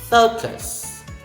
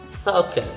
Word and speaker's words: focus: Next is focus, focus. It's fo. Remember the lowercase o with a macron on top of it? O with a macron, it is pronounced as O. So you say fo, then kus.